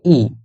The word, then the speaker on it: I: বলা হয় half Ha আই কে বলা হয় ই আই হল ই এটাও একটু